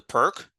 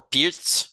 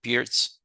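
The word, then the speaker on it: Pirc: So the modern turns into the perk, or Pirtz, if you want to pronounce it properly, Pirtz, h3.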